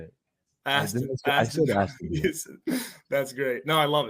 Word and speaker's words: Aston Villa: You got Austin Villa money line with the Saints. I mean, that shit's fucking hidden. Oh, how do you say it? Aston Villa.